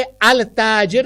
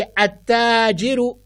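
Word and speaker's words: التاجر: अब आप दूसरी तरफ देखिए, ता हम नहीं पढ़ेंगे अल ताजिर, नहीं, हम पढ़ेंगे अत्ताजिरु, अत्थौबु, अद्दीकु, अज़्ज़हबु, अर्रजुलु,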